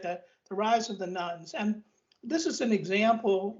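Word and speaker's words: nones: is what's called the rise of the nuns and that's spelled n-o-n-e-s as in none of the above not not nuns as in a religious order in the roman catholic church right the rise of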